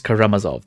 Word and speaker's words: Karamazov: the brothers Karam Kama I know how to pronounce this Brothers karamazov there we go I think her teacher tells